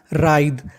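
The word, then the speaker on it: writhe: मैं बता दूं आपको अगर कभी आपको आर से पहले डब्ल्यू लिखा मिल जाए तो हम लोग डब्ल्यू का उच्चारण नहीं करते और मैं आपको बता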